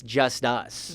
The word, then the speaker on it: Justus: not Justice like the It's word justice. My name's actually spelled different. It's just us.